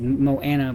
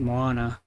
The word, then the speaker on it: Moana: It should be just said Moana, but they said Moana. I guess that's how they pronounce it in there. Hawaiian dialect.